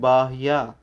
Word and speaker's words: बाह्या: एको हम निर्ममः शुद्धो ज्ञानी योगींद्र गोचरः बाह्या, बाह्या इसमें बड़ा वा, आधा और या, इस तरीके से 3 शब्द हैं, इसीलिए इसको पढ़ते हैं बाह्या, बाह्या।